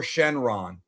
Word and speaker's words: Shenron: It's actually not wrong. You can say Shenlong or Shenron. Either word works, bro.